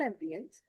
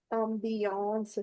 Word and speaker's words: ambiance: Although it's tempting to say it in English, ambience, but this is not ambience. It's ambiance here.